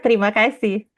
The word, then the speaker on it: terima kasih: I say terima kasih, or can you tell me the No, pronunciation? terima kasih.